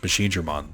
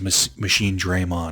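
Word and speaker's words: Machinedramon: voice actor just doesn't know how to pronounce Machine Dramon. That's fine. But then this guy says Machine Draymon, and I'm like, no, it's like this the whole game.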